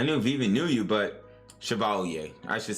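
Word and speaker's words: Chevalier: I knew Viv knew you but Shiovalier I should say it like that.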